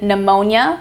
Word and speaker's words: pneumonia: We have the initial PN in pneumonia. The P is silent, similar to psychology and pseudoscience.